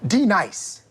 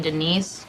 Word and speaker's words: Denise: D Nice. Is there a D nice? Do you mean Denise?